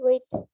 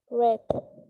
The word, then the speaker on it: read: Igual que read, solo va a cambiar la pronunciación. Read en pasado va a ser read. ¿Okay? En presente en su forma base sería read. En pasado read.